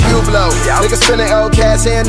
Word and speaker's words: Hublot: You pronounce that a hublow. Stupid bitch, that's a Hublot.